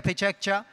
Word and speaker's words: Pecha Kucha: tout le monde de dire pechaka pechak pechaka prononcé à la japonaise encore plus fort et